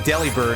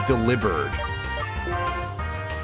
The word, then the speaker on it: Delibird: Yeah, and he told me that our friendly neighborhood penguin joke Pokemon, the name is not pronounced Delibird, it's pronounced Delibird.